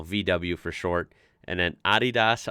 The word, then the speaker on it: Adidas: But you know, VW for short, and then Adidas. I'm sorry, that's pretty weird. It's not weird because that's correct way to say it. It's weird to me because I'm so used to Adidas.